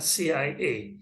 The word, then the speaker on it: CIA: Misalnya CIA, ya, CIA, C. Ini diawali dengan bunyi konsonan S, C.